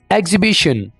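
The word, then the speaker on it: exhibition: बाद आर you driving एग्जिबिशन एग्जिबिशन यहां पर आप सोच रहे होंगे की ह जो अल्फाबेट है उसको मैं नहीं बोल रहा यहां पर इसको हम साइलेंट रखेंगे एग्जिबिशन फिर बोल रहा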